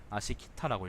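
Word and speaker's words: 葦北: 위북이라는 것은 아시키타라고 읽습니다. 아시키타.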